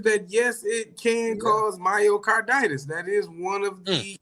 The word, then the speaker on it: myocarditis: reported cases of myocard how you say it myocarditis myocarditis okay myocarditis right heart inflammation you could